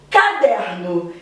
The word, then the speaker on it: caderno: Por exemplo, caderno. Caderno. O der é a sílaba mais forte e ela se localiza nessa posição, penúltima. Por isso, paroxítona.